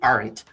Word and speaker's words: Ahrendt: with his mouth art wow first of all that's cool on many levels because you pronounce my last name right i was nervous about